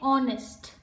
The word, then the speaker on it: honest: The letter H is silent in the word honest. So when we read honest, when we pronounce this word, this letter H, it goes silent. Okay, we say honest.